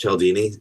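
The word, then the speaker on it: Cialdini: Yeah, it's it's it's usually pronounced Chelini.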